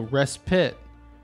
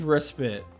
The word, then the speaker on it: respite: Oh, pronunciation is with a short I, not a long. So, respite. Oh, I never knew that. Really? It's not respite? Oh, you're right. It is respite.